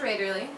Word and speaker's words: Raederle: if you missed it my name is Raider and that's spelled r AE d r l e and my website is